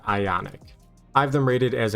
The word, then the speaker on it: IonQ: I pronounce it as Ionic.